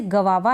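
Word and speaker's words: guava: तो इस प्रकार से गवावा है ना इसमें इस स्पेलिंग में जी यू ए है ठीक है जी यू ए है इसमें जीयू को हम आधे क के रूप में पढ़ते हैं गवावा लेकिन यहां पे आपको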